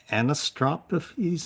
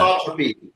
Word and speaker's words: anisotropy: So there's a swan, solar wind anisotropes. I don't even know how to pronounce that. Anisotropy.